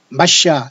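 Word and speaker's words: מָשִׁיחַ: 그러니까 마시아 또는 히브리 말로는 메시아, 영어로는 메시아지만 히브리로는 마시아라는 소리가 더 가깝거든요. 그러니까 히브리 말로 어차피 하려면 야슈아 마시아 아니면 히브리 말 그 다음에 헬라어로 그리스도로 하려면 예수와 그리스도.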